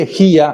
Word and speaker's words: elegía: Una here elegjía, una here el here elegía, hay que pronunciarlo bien porque hay palabras parecidas que son totalmente distintas, eh, como herejía, pero herejía es un poema o canto